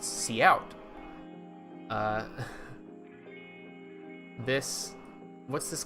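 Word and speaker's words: cout: colon colon see out is the character output stream uh it is pronounced C out uh this What's this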